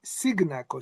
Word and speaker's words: Cignacco: It's an Italian surname is Signakaco.